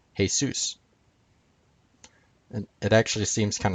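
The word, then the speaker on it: Jesús: hail Zeus comes from the Spanish name for Jesus which is pronounced Jesus and it actually seems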